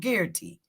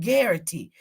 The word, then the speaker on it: Garrity: some research it's called guarantee that's what it's called when officers it's g-a-a-r-i-t-y it rhymes with Clarity it's called guarantee that's when you under